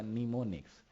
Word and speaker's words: mnemonics: So which word is used or which keyword is used, that is a mnemonics. The spelling is MNEMONICS. There is a starting character, that is a M, but that is silent.